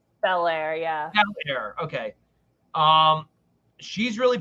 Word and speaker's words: Belair: Belair, yeah.